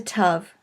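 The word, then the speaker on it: ת: The final letter of the alphabet is a tav, and it is pronounced like a T.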